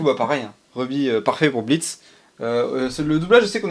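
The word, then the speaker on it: Blitzø: les dialogues je suis Blitz le haut ne se prononce pas je suis sûr et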